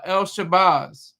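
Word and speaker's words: El-Shabazz: Malcolm X and uh El Shabbaz. Well, Malcolm Little, Detroit Red, Malcolm X, El Shabbaz. That's the proper way to say it.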